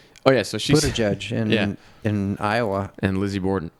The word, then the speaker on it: Buttigieg: Generally, if G or I or E follows G, it's a soft G. But I think of things like gig and give me, and I want to say Buttigieg. But anyway, I digress.